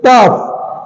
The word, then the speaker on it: tough: TOUGH, टफ, टाउफ नहीं है, टाउफ नहीं है, ये टफ है।